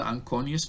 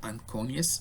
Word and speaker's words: anconeus: this is the ulna you have the ankonious muscle and corneas or anconius i really don't care how you pronounce it as far as